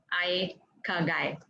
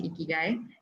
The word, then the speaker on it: Ikigai: is called Ikigai, or if I'm pronouncing it right in the Japanese way, it is a Japanese word. It's pronounced as Ikigai.